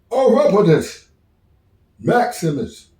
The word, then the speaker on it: Orapotist Maximus: to adjust my medication my name is pronounced oropus Maximus my buddy's call me